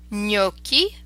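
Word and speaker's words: gnocchi: on you know so you can hear that GNA makes a distinctive near sound me okie our potato dumplings in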